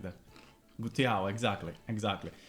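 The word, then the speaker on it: guttiau: How do you pronounce that? How's it written? Gutiao.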